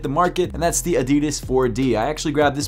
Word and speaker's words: Adidas: of sneakers of and that's Adidas or if you like to say it wrong Adidas and the first pair